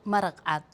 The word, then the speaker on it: maraq cad: And how do you pronounce that, or what's the name of that in Somalia? It's called maraqat, which the Somali word for clear and white is the same.